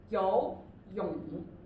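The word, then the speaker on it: 游泳: So the first one is 游泳, 游泳. So it's second and third.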